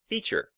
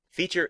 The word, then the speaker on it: feature: should point out that this word has two syllables and the stress is on the first we say Feature Feature now as is often